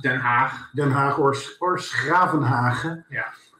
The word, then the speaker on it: Den Haag: And because The Hague is pronounced Den Haag.